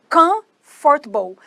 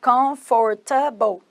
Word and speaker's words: comfortable: Agora, a palavra comfortable tem dois sons, ó. Comfortable. Não é igual em português que seria comfortable. Não, é comfortable. Mas mesmo assim tem duas sílabas.